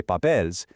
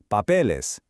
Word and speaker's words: papeles: So under our level 2 rule, we definitely don't say papels, we add the ES, and it smoothly becomes papeles.